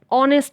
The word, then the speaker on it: honest: native speakers use and before words beginning with h if the first syllable is not stressed like hour like honor so let's see some examples rambabu is an honest man in this sentence